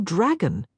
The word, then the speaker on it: Drago: It's like dragon without an N. "Oh." A smile spread across Pandora's face. "I like that much better. I'll call you Dragon."